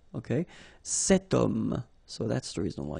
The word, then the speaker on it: homme: Remember, H is not pronounced, okay, so you've got the sound of O at the beginning of this word, okay, cet homme, so that's the reason